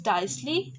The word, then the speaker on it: diastole: The word T remains silent and it is pronounced as diastole and systole.